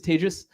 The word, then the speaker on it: Tejas: was modeled after uh my name is Tejas that's pronounced like contagious um I think I